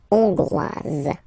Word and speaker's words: hongroise: Okay, so here, final S not pronounced for the masculine form, and then you pronounce it here for the feminine form. Hongrois, hongroise.